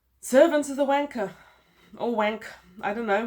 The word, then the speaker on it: Wankh: name of this book I can't think of any way to pronounce it other than wanker which is a good old you know English word originated